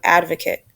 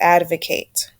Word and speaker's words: advocate: noun and a verb the noun is pronounced advocate but I want you looking at the verb which is advocate to advocate and so that's the